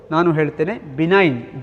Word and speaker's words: benign: benign tumor and malignant pronunciation benign benign be ni gn benign tumor and malign tumor what